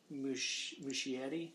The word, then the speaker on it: Muschietti: And he obviously didn't direct the film, and it was Andy, Muschietti, I think is how you say it.